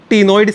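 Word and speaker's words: ctenoid: तो cycloid scale होंगे या फिर टीनोइड स्केल होंगे, सी वुड बी साइलेंट।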